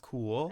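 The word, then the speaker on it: Cumhaill: It's actually not pronounced cumhail. It's pronounced cool.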